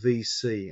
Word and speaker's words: VSee: And I use the tools I use a GoToMeeting, I use Skype, and I use another program called VC, and that's spelled VSEE, which is a video conferencing solution.